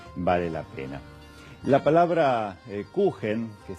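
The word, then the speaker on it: Kuchen: La palabra cuen que se escribe con ch, pero la ch en alemán se pronuncia j, es el término que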